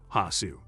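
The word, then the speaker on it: Hosu: fictional district in tokyo hasu the japanese pronunciation of hoff at the end of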